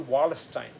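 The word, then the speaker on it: Wallerstein: emmanuel just like emmanuel khan's first name emmanuel wallace stein wallace stein is spelled w-a-l-l-e-r-s-t-e-i-n emmanuel emmanuel wallace time also extended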